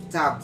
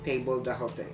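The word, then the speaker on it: table d'hôte: menu which is called tab though in literal english you will read that as table the hote but you pronounce the word as ta then the next one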